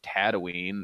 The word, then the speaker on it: Tatooine: when he gets to what i hate is pronounced incorrectly tatooine that's the oh that it's tatooine not tatooine